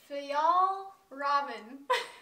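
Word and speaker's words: Fjällräven: It's the, we just Googled how to pronounce it. Fjall Raven.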